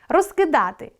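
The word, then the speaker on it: розкидати: Розкидáти — що робити? — недоконаний вид. Розкúдати — що зробити? — доконаний вид. Наголос допомагає розрізняти вид.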